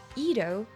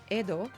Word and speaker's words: Edo: today known as tokyo ido or more likely pronounced edo was a very interesting